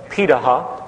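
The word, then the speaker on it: Pirahã: the world such as the Paha which is how it's pronunciated uh out of Brazil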